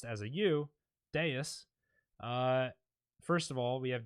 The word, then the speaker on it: Devs: devs the V in Latin which is actually pronounced as au Deus first of all we have Deus now which